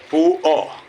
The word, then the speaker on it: poor: POOR, POO, R is silent, है ना।